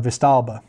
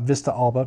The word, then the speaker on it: Vistalba: the uh agrello and vista alba or vistalba probably not vista alba because there's not there's only one a in there um vista alba probably